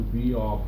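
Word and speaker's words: Beall: Moving forward, today's video is going to talk about my attempt at recreating the Beal buffing, three-stage buffing and polishing system. I believe it's pronounced Beal. It could be Beal. B-E-A-L-L.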